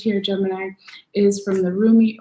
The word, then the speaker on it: Rumi: So your last oracle message here, Gemini, is from the Rumi or Remy oracle deck, depending on how you pronounce it, by Elena Fairchild. And so Rumi, that's how I pronounce it anyway.